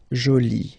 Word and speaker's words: jolie: and then you get joli. Okay, so you can see that you put this E but then you don't pronounce it.